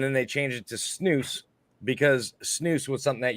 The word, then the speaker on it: snus: So snus apparently is something that's pronounced snus.